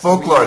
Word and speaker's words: folklore: This word causes problems for lots of people. Not for Brazilians. Really? Yeah. There is a Portuguese word uh in fact uh for for clar uh a very common Portuguese word that in fact comes from English folk law. But yes, folklore.